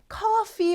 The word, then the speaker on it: coffee: 뜻이에요 자 그리고 여러분 cofe 발음 하실 때요 F 발음 주의해 주셔야 되죠 커피라고 하면 피 들어가면 복사는 뜻이잖아요 커피 주위에서 발음해 주세요 자 표현 많이 연습해